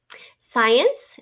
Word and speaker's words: science: Science, here is our first syllable, S-C-I, long I, because it is an open consonant, open syllable, having a long I.